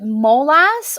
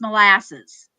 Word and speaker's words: molasses: let's make a debate is it molas or molasses I think it depends on where you're from where I'm from it's molasses because in French it's